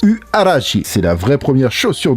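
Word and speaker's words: Huarache: y a quelques années, la URH se prononce Uarashi, c'est la vraie première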